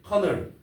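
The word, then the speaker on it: colonel: 커널이라는 게 있었는데 커널 이거 보세요. 이거는 뭐야? 이거 같은 경우는 발음이 어떻게 되냐면 커널 철자로 말해보세요. 커널이야 이게? 대? 콜로널 이렇게 되죠. 아예 얘가 발음이 안 되는 거라고.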